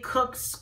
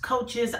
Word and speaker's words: Koch: postulates now I know it could be pronounced a variety of different way Kooks coaches I have learned them cops postulates so however way you want to pronounce it is absolutely fine with me and in a very